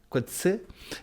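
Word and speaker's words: Coetzee: Por ejemplo, ¿qué me iba a imaginar yo que un día el Premio Nobel de literatura Quetí se pronuncia así, Juan? Quetsé.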